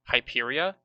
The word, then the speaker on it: Hyperia: I How do you didn't think spell that the island was person we're hospitable. talking to right now's name? Hyperia?